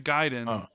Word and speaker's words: Gaiden: what it is I I know the proper way to say well yeah ninja giden but sometimes when I